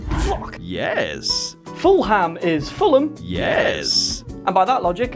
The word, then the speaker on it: Fulham: When you see the word ham at the end of the name, it's actually pronounced Okay, so Clapham is Clapham. Fuck. Yes. Fulham is Fulham.